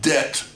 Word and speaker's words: debt: a certain level of debt okay D EBT don't pronounce the beat it's spelt with a B but you don't pronounce the me that it's